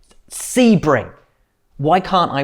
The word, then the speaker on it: Sebring: sabring i never say it right do i sebring why can't i pronounce american circuit names properly sebring 12.